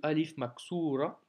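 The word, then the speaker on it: ألف مقصورة: Petite nouveauté du jour aussi, c'est le Alif Maksura, qui s'écrit comme ceci, tu te souviens, hein, mais sans les points. Et ça se prononce comme un A de Alif.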